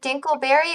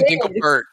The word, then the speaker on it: Dinklebert: easy okay easy peasy wait wait is it dinkleberry or dinklebert did they change their name it's always been dinklebert time yeah we've been saying it wrong as a meme well it